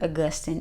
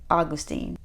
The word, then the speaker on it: Augustine: His name isn't Augustin, it's Augustine.